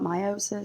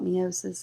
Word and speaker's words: meiosis: Now, some people call it meiosis, some call it meiosis. It means the same thing. It's just a matter of how you want to pronounce it.